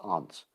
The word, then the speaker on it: aunt: aunt but actually it's aunt is the proper british pronunciation but in in america we pronounce it like a-n-t like it's one of the little bugs here's my bug so